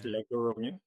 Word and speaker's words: Laguru: What is Lagoru? Laguru is a place in my village. It's actually pronounced lago but like for a